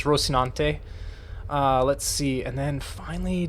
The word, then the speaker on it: Rocinante: And then, for a suicidal ship, since I'm the one who flies it most of the time, the Rocinante. That's how I think it's pronounced, is Rocinante.